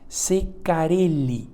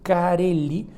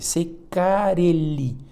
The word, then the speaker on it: Ceccarelli: maría aris tea si yo estoy pronunciando che cómo se produce en italiano no es ceccarelli no karely y con doble c ceccarelli o secar y y no con doble l entonces miren ustedes las